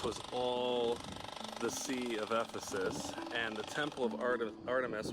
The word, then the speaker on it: Ephesus: And then the Ephesus we just saw was between those 2 valleys there.